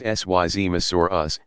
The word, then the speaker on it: Seismosaurus: of these dinosaurs were the seismosaurus pronounced syz masoor us and supersaurus the seismos